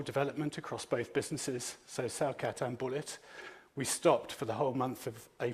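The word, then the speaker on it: Celcat: The first of those is Cellcat, that's spelt with a C, C-E-L-C-A-T.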